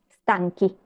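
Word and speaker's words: stanchi: significaban largo y cansado el plural se hace con la H sí es similar a la regla que vimos recién para los femeninos entonces digo lungi y digo stanky má atencion sí abajo tienen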